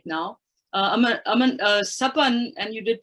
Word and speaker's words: SAPAN: SAPAN, and you did pronounce it quite correctly, SAPAN is the South Asia Peace Action Network, is, as its name implies, it's a network.